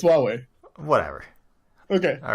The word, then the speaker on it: Huawei: looks like Hawaii I'm just gonna pronounce of Hawaii no no it's Huawei whatever okay all right